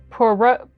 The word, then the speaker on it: Poirot: His last name, and he's got this name that looks like Hercules, but it's pronounced differently. Poirot.